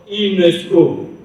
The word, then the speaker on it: UNESCO: aussi un sigle, mais le mot est prononcé de manière normale, c'est-à-dire que UNESCO. Nous avons bien sûr que là, nous avons aussi des initiales, mais ils sont reliés. Et on les prononce UNESCO.